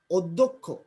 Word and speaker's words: অধ্যক্ষ: তাহলে আদ্য এর পরের ধ্বনি ধতে জফলা থাকার কারণে যে আদ্য অটা ও এর মধ্যে উচ্চারণ হচ্ছে।